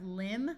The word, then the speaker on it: limb: Here we have limb with a silent B, but we add the suffix and it becomes limber.